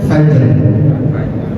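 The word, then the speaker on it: فجر: La'il fajr, cara membacanya fajr. Jim memiliki sifat qalqalah.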